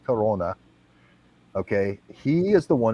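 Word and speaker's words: Krone: guy named roger crona if you pronounce his name in german he's a german speaker his name is name is k-r-o-n-e it's pronounced corona okay he is the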